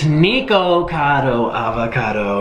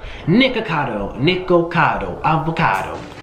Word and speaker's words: Nikocado Avocado: People, say my name right, please. It's Nikocado Avocado. Nikocado, there's an O.